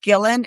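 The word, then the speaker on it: Gillan: So Maria Mazziotti, I think it's pronounced Gillen, and the other, they're both poets.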